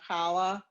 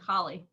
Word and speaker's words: challah: So in at least New York, some people can pronounce it challah bread. Instead of challah, they said chali. So more like holly.